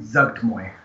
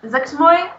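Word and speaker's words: Zuggtmoy: It's, how do you pronounce the name again? Zugtmoy. Zugtmoy.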